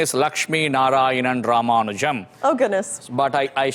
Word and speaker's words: Lakshmi Narayanan Ramanujam: i know that one my full name is lakshmi narayanan ramanujam oh goodness but i i shorten it or